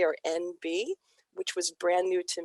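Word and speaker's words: enby: the new phrase nb it's spelled e-n-b-y for its abbreviation for the phonetic for non-binary or nb which was brand new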